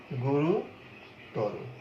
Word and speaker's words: গুরুতর: তো গুরুতর এর উচ্চারণটি কেমন? গুরুতর। খুব একটা মজার উচ্চারণ। দেখো দুইটি অধ্বনির মধ্যে একটি অধ্বনি বিবৃত উচ্চারণ হলো, বিবৃত উচ্চারণ হলো অর্থাৎ অ এর মতোই উচ্চারিত হলো এটি। আর একটি অধ্বনি যেটা তোমার এই রয়ের সাথে ছিল, এই অধ্বনিটি সংবৃত উচ্চারণ হয়ে ও এর মতো হয়ে গেল, গুরুতর।